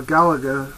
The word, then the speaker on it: Galaga: Now for my 7800 manuals, I picked up Crossbow, Donkey Kong Jr., Galaga, or Galaga as I usually pronounce it, Dark Chambers, Ace of Aces, which was very good on the Atari 8-bit.